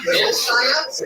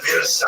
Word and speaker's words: Wilshire: Wilshire? We must go to the Wilshire. I think Wilshire is where Magneto's parents were born. Everybody says Wilshire. It's Wilshire.